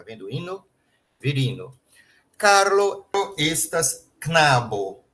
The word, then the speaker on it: Knabo: Carlo, estas Knabo. E Vera, estas Knabino. Esse K com N, a gente tem que formar uma sílaba só com Knabo, Knabino. Não pode falar Knabo, Knabino, tá legal?